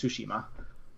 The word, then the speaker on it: Tsushima: a ghost of Tsushima it's I don't dare pronounce that name it's it's Tsushima I know a little Japanese that's all reason